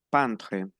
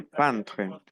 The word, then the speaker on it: peintre: Donc, répétez s'il vous plaît, peintre. Répétez peintre. Attention, EI se prononce un.